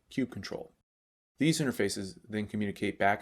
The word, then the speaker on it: kubectl: The kubectl utility, or as some people pronounce it, kubectl, is the command line tool for managing your Kubernetes cluster.